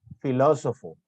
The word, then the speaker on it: filósofo: Tienen la mayor intensidad en la antepenúltima sílaba y siempre llevan tilde. Por ejemplo, tenemos amábamos, exámenes, filósofo.